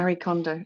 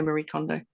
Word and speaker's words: Marie Kondo: you pronounce her name Mari condo I say Mari condo you say Marie condo it's all the same thing tomato tomato I like